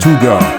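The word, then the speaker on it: hygge: its concept of of Huga a word that encapsulates a unique Danish way of life pronounced Huga it's a lifestyle that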